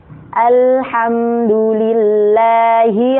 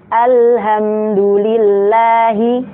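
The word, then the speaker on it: الحمد لله: Alhamdulillahi rabbil alamin. Nah, kesalahan yang sering terjadi di sini adalah ha yang disama-samain sama ha. Jadi bacanya itu Alhamdulillahi. Nah, itu nggak ada bedanya antara ha sama ha.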